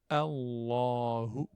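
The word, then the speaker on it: اللهُ: Et le hu, je le prononce comme un ou, donc français. Hu. Juste, je rajoute le point d'articulation du ha. Allahu.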